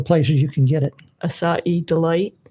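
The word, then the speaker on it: açaí: We're not pronouncing it correctly, Doug. It's actually acai.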